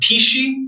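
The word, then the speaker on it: pici: you um I had a pishi which is p-i-c-i the test is pronounced um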